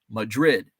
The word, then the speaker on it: Madrid: town called Madrid but it's pronounced Madrid uh rhymes with yet oh Madrid Madrid with